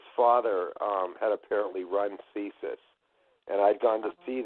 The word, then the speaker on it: CSIS: Um, but early on in your um, testimony, you said something about the CIA and you you said something about CESUS. Am I pronouncing that correctly?